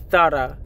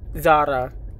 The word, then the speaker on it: Zara: ] y'all be saying it's pronounced thara not Zara like learn Spanish from Spain before you speak anything it's